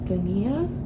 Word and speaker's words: Dania: All right, so first off, I'm Dania, I'm your host, and it is pronounced Dania, okay?